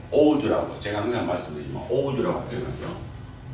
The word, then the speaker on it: oud: 네, 오드라고 제가 항상 말씀드리지만 오드라고 표현하죠. 오드라고도 하고 오드라고도 하고 우자는 약간 묵음 비슷하게 오드가 아랍어로 침향이다.